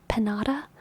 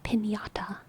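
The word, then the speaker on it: piñata: didn't have that so in my head I was just like panata and I knew it was supposed to be pinata but it didn't have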